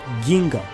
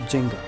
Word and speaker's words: Ginga: Ginga's name is supposed to be pronounced Ginga, not Jinga.